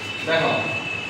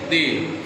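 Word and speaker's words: the: কি পড়ে টি এইচই দেখ টি এইচই দি টি এইচই দি এর উচ্চারণ হবে কটা দুটো যখন কি হবে কোন কনসোনেন্টের আগে থেকে বসবে টি এ তখন হয়ে যাবে কি দা আর ভাওয়েলের আগে যদি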